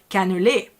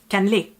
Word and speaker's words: cannelé: because the kind of first like intuition would be to say cannelé. But we French people tend to sometimes like kind of get rid of a few letters to kind of again make the pronunciation a lot smoother when we talk, and it's gonna be cannelé. ว่าถึงแม้การเล่เนี่ยจะมีส่วนผสมแค่ไม่กี่อย่าง And here we have